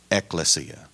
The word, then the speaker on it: ekklesia: I mentioned the word ecclesia this is ekklesia meaning it's Greek two K's stressing the first syllable as the church begins